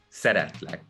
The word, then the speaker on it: szeretlek: And you pronounce it as szeretlek. Szeretlek. Yes. Szeretlek.